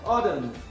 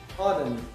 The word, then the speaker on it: autumn: not pronounced here we have autumn autumn and at the end of the words not pronounced honest honest we don't